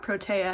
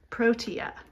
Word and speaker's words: protea: It's not protea, it's protea.